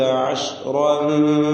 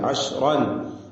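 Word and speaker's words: عشرًا: അപ്പോൾ അശ്റൻ ഫമിൻ ഇൻദിക് ഇവിടെ ശ്രദ്ധിക്കേണ്ടത് അശ്റൻ റാഇന് തഫ്ഖീം കൊടുക്കണം. അശ്റൻ എന്ന റാഇന് തഫ്ഖീമാണ്. എന്നാൽ ആ തഫ്ഖീം ആ ഫത്ഹയുടെ ഉച്ചാരണത്തോടുകൂടി അവസാനിക്കുകയും തൻവീനും ശേഷം ഫാവും തർക്കീഖോടുകൂടി ഉച്ചരിക്കണം എന്നത് ശ്രദ്ധിക്കണം. തൻവീനിന് മണിക്കലാണ്, ഉന്നത്തുണ്ട്.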